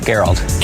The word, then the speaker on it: Gerald: Geralt. Nice to meet you. Yeah, Geralt. Tim. Hi, Tim. How you doing? Gerald with a G? Yeah. Hard G.